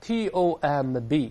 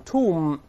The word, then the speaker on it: tomb: 不发音的你像坟墓 T-O-M-B 咱们读成 tomb 而不是 tomb 绵羊 L-A-M-B 咱